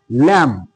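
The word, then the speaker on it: lamb: তাহলে আমরা বুঝতে পারলাম যে তাহলে এম এবং বি যদি পাশাপাশি থাকে এবং এই বি এর পরে যদি কোন ভাওয়েল যদি না থাকে তাহলে বি এর উচ্চারণ হবে না।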